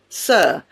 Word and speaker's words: sir: For example, the final R in river or sir is silent. River, sir.